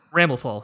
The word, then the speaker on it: Ramlethal: Ramlethal, yes.